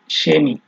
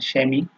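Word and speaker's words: Chemie: এই সেহা যখন হচ্ছে আপনার বাক্যের শুরুতে ব্যবহার হবে, তখন এটার উচ্চারণ তালিবর্ষ বা দন্তস্ব যেটাই বলেন, মানে স এর মতো হয়। যেমন এখানে আছে শেমি, শিনা, শেফ, ঠিক আছে।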